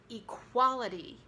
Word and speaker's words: equality: And equality. That's right, equality. So we don't really say the E, it's reduced in equality, but then the E is stressed when you say equal.